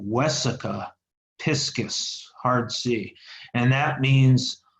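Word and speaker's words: vesica piscis: probably more as a Wesa piscis Wesa with a V but pronounced like a w Wesa piscis heart see and that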